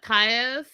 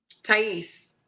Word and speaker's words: Tais: Um, last and certainly not least is uh Ta. I never say her name right. Is it Ta? Tais. Tais.